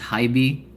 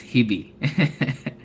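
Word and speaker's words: HiBy: Did you guys know that it's pronounced as Hybe? Or did you guys say it's Hibi?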